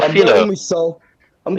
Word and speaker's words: Sol: Soldier Campbell. Say his name right, man. Soldier Campbell. That's Do you know what? Tough, I'm you know. going with Sol.